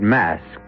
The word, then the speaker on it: Masque: The word mask, you should know, is spelled M-A-S-Q-U-E and means masquerade.